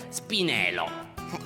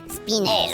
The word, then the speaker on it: spinello: Spinelo. Lo spinelo si legge con una L sola. Spinelo. Ripeti. Spinello.